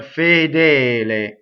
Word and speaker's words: fedele: Next, fedele. So this in its full form is two closed E's. Fedele. Okay, so not fedel or fadal, right? But fedele.